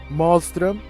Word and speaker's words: Malström: For the weapon, we're going to use Malström, because that's how the weapons is pronounced and stuff like that in Norway as well.